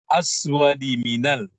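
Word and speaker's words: الْأَسْوَدِ مِنَ: Ada tadi yang agak panjang padahal mestinya di aswadi minal. Ya. Jadi aswadi minal, tidak panjang.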